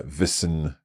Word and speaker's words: Wissen: And then we had Wissen, again with like a double S, just as in Tasse. Yeah, Wissen, so short sound, Wissen.